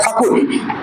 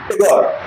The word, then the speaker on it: Thakur: Who is Rabindranath Tagore or Rabindranath Thakur? Thakur is the word, Britishers couldn't pronounce it, so they gave the word name Tagore. They cannot call Thakur.